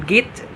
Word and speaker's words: get: So the pronunciation become git and become leme because Southern Americans tend to shorten words and to make it faster to say.